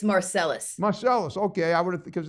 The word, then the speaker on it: Marselles: Mar is that how you say it it's marcelis marcelis okay I would because it sound looks it looks French on in in the in the syntax and I but it's marcelis I get that all all the time yes